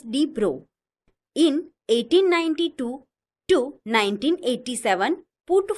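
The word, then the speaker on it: de Broglie: the French physicist Louisis Victor Drogley pronounced as D bro in 1892 to 1987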